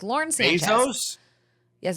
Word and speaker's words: Bezos: First of all, it's not even how you pronounce it. Second of all, she has a name. It's Lauren Sanchez. Bezos.